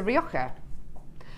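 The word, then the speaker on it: Rioja: so someone yeah so if you have a red wine that is r o r i o j a it's a rioka and and and if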